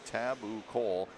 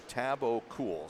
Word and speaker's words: Tabucol: is it's spelled Tabucol, Tabakal. He said just switch the O and the U, so Tabakal. So I guess we'll say Tabakal, or Tristan, or because